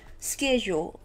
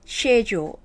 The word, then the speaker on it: schedule: ฉัน เลย นะ จริง ออก เสียง ได้ 2 แบบ นัก เรียน แล้ว มัน ออก ได้ นั้น สเก็ต โจ cayo หรือ เช โด้ ก็ ได้ นะ นี้ จำ ไป